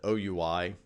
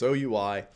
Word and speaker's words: OUI: the organizationally unique identifier unfortunately we pronounce that oui the acronym I wish we said we but we don't it's oui and that's exactly what